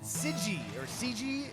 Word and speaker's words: Gego: It goes in for Gego's Deluxe Drew, who came in on the play, and CG is the pronunciation we're looking for there.